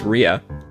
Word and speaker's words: ria: i didn't know this these actually have the identical pronunciations if you look at the ipa so they're both pronounced rhea that's interesting uh yes